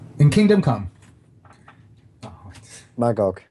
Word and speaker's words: Magog: always screw up his name in Kingdom Come Magog Magog thank you I knew I was saying it